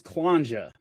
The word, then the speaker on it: Kllanxhja: So, my last name is Clanja. Um it rhymes with ganja, right?